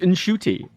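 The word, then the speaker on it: Ncuti: He was teaching everyone to pronounce Shooty, and there's this wonderful thing where he was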